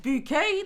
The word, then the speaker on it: Bucket: Bouquet, the resident of the Go on, in it. Mrs. Bouquet It's written bucket, but it's pronounced bouquet.